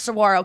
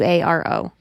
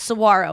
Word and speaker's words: saguaro: about it, and she was like, "But it's pronounced saguaro because it's spelled different, right? Yeah, it's- differently." mhm. It's like And so I was like- SEGUARO. Yeah, and she was like, "No, it's saguaro," and so I wrote down saguaro, and I